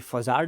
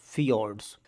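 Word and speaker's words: fjords: third one is feud यहां पे फज्ड लिखा हुआ है बट the correct pronounce is फोर्ड्स question को सॉल्व करिए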